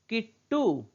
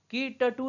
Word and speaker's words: किट्टू: इसको हम लोग की टटू नहीं पढ़ते, की टटू नहीं पढ़ते, किट्टू। क्यों, बीच वाला जो ट है, क्योंकि ये आधा इसका उच्चारण हम कर रहे हैं। और आधा उच्चारण क्यों कर रहे हैं, क्योंकि ट में नीचे हल लगा है, हल चिन्ह लगा है।